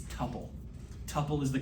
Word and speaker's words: tuple: Tupppel is the correct pronunciation. Rhymes with couple.